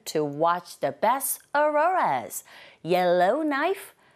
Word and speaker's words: Yellowknife: Yellowknife, 크 사운드 묵음이죠.